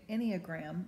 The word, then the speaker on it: Enneagram: So I've discovered on the Enneagram, and that's how you pronounce it, but it's spelled E-N-N-E-A-G-R-A-M.